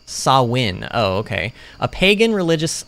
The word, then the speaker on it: Samhain: ancient celtic festival of samhain a gaelic word pronounced sawin oh okay a pagan religious celebration to welcome